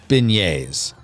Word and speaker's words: beignet: Kirk says Mond is the pronunciation and it's pronounced Beignets Beignets oh yes the Cafe Monument yes I